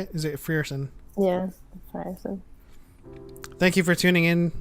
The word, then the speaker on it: Frierson: Yeah, Frierson.